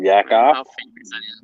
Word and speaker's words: Yakov Benz: see you the famous Yakov Benz what's up yaka am I saying that right you're saying you're right yep awesome oh God